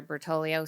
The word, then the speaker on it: Bertoglio: I'm Bertoglio, spelled b e r t o g l i o and that g is silent.